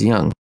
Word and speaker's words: Jung: It's pronounced Young.